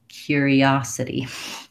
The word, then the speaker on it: curiosity: stressed in this case on my letter T is a flap in this word so it sounds more like a d if I think about it like a light D I'll be able to say it correctly you might want to